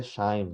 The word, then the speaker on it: QIIME: Kime. Ya, di tulisannya QIIME2, tapi dibacanya dia Shine gitu ya.